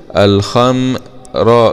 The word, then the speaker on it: الخمر: يبقى الخاء ميم سكون الخم راء كسره ري الخمري، ما تقولش الخمري الخم وتفخم الميم ميم، لا الميم من حروف الاستفهام.